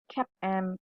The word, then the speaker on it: CAPM: and arbitrage pricing theory so how do you pronounce it it is basically cap m and apt for your information cap